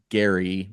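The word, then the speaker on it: Geri: Andre D's book uh Jerry is spelled GE r i which is Gary one of Odin's wolves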